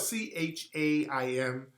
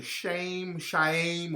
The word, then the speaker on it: Chaim: Chaim, is it Chaim or Chaim? It's spelled C-H-A-I-M. Either Chaim or Chaim, but the last name is Rumkowski.